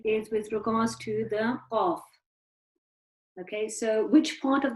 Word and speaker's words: Qaf: Okay, so the qaf is actually pronounced from the back of the tongue.